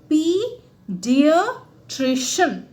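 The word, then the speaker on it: paediatrician: सबसे पहले PAE को आप पिया या पाई ऐसे नहीं कहेंगे, क्या कहेंगे, पीडियाट्रिशियन।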